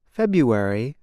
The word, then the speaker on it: February: the word for example the month February is said like this February the R is not pronounced instead speakers make a yaw sound now you try it